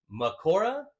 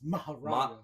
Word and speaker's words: Mahoraga: It's Mahoraga. Mahoraga. That is what it is. I understand, obviously, from it's when they translate it to Japanese into English, it's become Makora, because in Japanese it's Makora. But like I think in Sanskrit, the actual translation of Mahoraga is just Mahoraga in all languages.